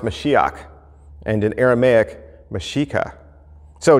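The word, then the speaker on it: משיח: Christ means anointed one in Hebrew it's pronounced mashiach and in Aramaic mashika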